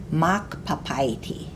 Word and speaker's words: makpapaiti: I hope you said makpapaiti. You know you have to say the first part louder because of the accent mark over the first A.